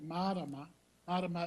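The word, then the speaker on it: marama: moon is Madonna and if you pronounce it ma roma ro ma is also a way for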